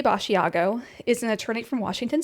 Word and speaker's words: Basiago: I have heard this his Andrew Bashiago pronounced a couple ways. Um I've heard Basiago. Aiago with a B over it. He says it Bashiago. Okay. So I'm going to say Bashiago.